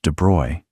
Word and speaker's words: de Broglie: Louis de Broglie, and by the way, it's pronounced de Broy because French, came from an aristocratic family.